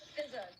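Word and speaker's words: Fizaa: It's not spelled F-Z-A. It's spelled F-I-Z-A-A. There's two A's at the end, but it's not pronounced Fizza. It's pronounced Fizza. One of the A's is silent. I don't know which one.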